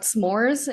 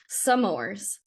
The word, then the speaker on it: s'mores: started and the when we were talking about s'mores in one episode she was like stie you like add a syllable and you you kept saying sores sores no wrong Sor s'mores makes tongue feel